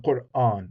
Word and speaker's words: Qur'an: we have it in Qur'an. So if sometimes in English people just say Quran, right? But in Arabic it's 2 syllables, Qur, and then the second syllable begins with the hamza on.